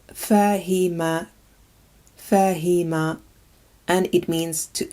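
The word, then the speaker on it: فهم: This word is pronounced fahima, fahima, and it means to understand.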